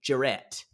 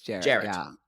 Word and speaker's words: Jared: on Direct or Jarrett I keep calling him but Jared it's the way it's spelled I want to say jarrette I get it yeah but it's Jared um yes but you know